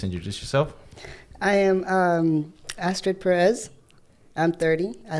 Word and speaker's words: Astrid: favor and please introduce yourself i am um astrid perez i'm 30. i like long walks on the beach okay cool so you say your name was astrid astrid that's my first name but a lot of